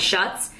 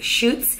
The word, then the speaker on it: Schutz: it's so funny because for the longest time I call this brand shuts I guess it's pronounced chutes and so these are